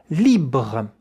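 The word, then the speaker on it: libre: Libra. Once again, li. Yeah. The R at the end has to make such a little vibration.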